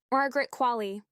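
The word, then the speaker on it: Qualley: job of all time Margaret qu the same way Wall-E pronounces his name but with a Q at the start Margaret qu on how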